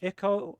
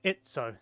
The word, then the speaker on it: itso: and IO or itso I've been informed by a member of chat that it's pronounced itso so I'll have to try that one although forgive me please if I slip back into IU uh yeah I'm not